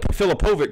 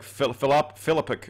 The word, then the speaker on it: Filipovic: I call it Filipovic, but he said something else like Filipic or something.